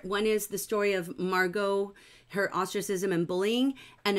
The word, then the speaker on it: Margot: Heidi says, I always thought it was pronounced Margot. Yeah, it's a French name, so the O, it ends in an O sound.